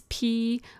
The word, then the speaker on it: Pyrrole: And so the shade here is called, I think it's pronounced, it could be Pyrrole Red or Pyrrole Red. It's Pyrrole Red.